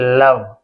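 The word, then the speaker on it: love: वह ये आदमी के लिए लगाते पुरुषों के लिए लगाते हैं एल ओ वी ई अब देखिए एल ओ इसे लो नहीं इसे क्या पढ़ते हैं लव कोई मात्रा नहीं लव लव का मतलब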